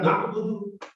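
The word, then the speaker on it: نَعْبُدُ: अच्छा, इसमें छोटी सी एक करेक्शन मैं करना चाहूंगा, जो कि हम आमतौर पे गलती भी कर देते हैं नमाज में भी। किया का नअबुदु, नाअबुदु, नाअबुदु, नअबुदु, ठीक है। हम इसे थोड़ा सा प्रोनाउंस ऐसे करते हैं जैसे हमजा को प्रोनाउंस कर रहे हैं, नाअबुदु, नाअबुदु, नाअबुदु जो है ना, नाअबुदु वो ये होगा। आई स्कूल के साथ जब आता है तो उसमें झटका नहीं होता।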